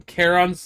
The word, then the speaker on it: Charon: no no it's Charon Caron's the center no Chiron was on tour it's it's originally pronounced Caron I'm not Greek hey